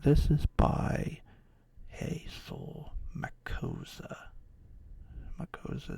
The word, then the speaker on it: Makossa: Makosa is spelled Makossa. Hazel Makosa.